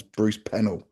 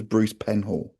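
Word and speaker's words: Bruce Penhall: And they had they were a top team and they had a rider called Bruce Penhal who I always pronounce Bruce Penel. I think it's Bruce Penhal.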